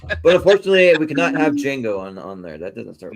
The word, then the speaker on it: Django: But unfortunately, we cannot have Django on there. That doesn't start with J. Nope. So, Yeah. Because the T is silent.